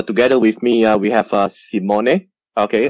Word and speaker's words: Simone: I call him Sim One. So look at his name. It's S I M O N E. Sim One. So I got the pronunciation. It's correct. It's correct.